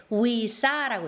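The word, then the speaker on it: วีซ่า: 그리고 체류 허가를 나타내는 비자 같은 경우에 우리가 VISA 이렇게 적잖아요. 여기에서는 읽을 때 위사라고 읽습니다.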